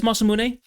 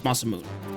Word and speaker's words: Masamune: I always took it as Masamune, but um apparently that's how the British say it, not how Americans says it, which is Masamoon.